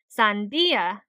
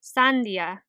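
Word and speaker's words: sandía: So if we were to put emphasis on the syllable where the accent mark is in the word for watermelon, we would say sandia instead of sandia.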